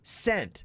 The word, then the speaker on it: scent: Which is silent in the word scent? The S or the C? Scent. I think it's the C, It's right?